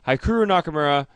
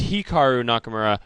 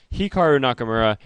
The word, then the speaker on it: Hikaru Nakamura: Hikaru Nakamura, sorry, it's Hikaru Nakamura. I always mispronounce his name. Hikaru Nakamura.